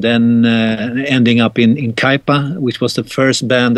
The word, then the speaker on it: Kaipa: you seen since your early days with uh cape or i hope i'm pronouncing that right in the 1970s yeah kaipa yeah that's right uh well i've seen many